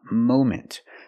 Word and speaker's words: moment: moment at the moment we cannot use a short a sound like hot and stop and Mom we need the long o sound like no and go and phone Mo moment at the moment right